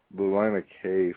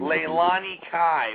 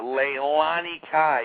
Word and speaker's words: Leilani Kai: Oh, I was going to say also with um Lana K fighting the women's match. I mean, she Leilani Kai. Why'd you say her name wrong? Lana K. I'm Canadian. I know, but Leilani Kai.